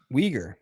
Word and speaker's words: Uyghur: Uyghur. Okay. Uyghur. Yep, that's how you pronounce it, but it's spelled really weird.